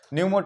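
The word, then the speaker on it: pneumo: यहां पर न्यूमो centre न्यूमो लेकिन यहां पर क्या होता है साइलेंट होता है तो यहां कहां पर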